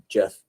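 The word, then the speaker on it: Geoff: jeff that's one way he's called jeff g-e-o-f-f jeff okay here it is and i want the lyrics jeff huh yeah and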